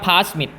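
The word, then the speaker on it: plasmid: นะ ครับ ต่อ มา pass smit อ่าน ว่า pass smit pass smit ก็ คือ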